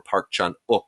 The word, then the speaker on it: Park Chan-wook: The one of these arrows that I'm really, really fond of is the Park Chan-wook, or Park Chan-wook, I'm told is the correct pronunciation.